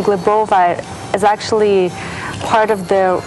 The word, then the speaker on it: Glebova: Well, in Russian, it's Glebova. Glebova. Yes. That's pretty hard, huh? Glebova. Yes. And in English, people would say Glebova. Glebova. Glebova. Now, I hear Thai people always pronounce my name Glebova.